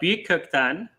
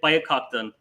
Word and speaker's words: Büyükkökten: there so my uh last name is uh buktan and it has umlauts on the uno in the united states they just uh call it biocotton which is an easier pronunciation yeah yeah it's